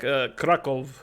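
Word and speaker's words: Kraków: and then you know Krakow if you're saying it it's like krokov crackles leg Nietzsche I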